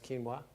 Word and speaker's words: quinoa: rice definitely quinoa definitely quinoa spelt with a Q some people see that word and they don't know is but that's quinoa potatoes yep what else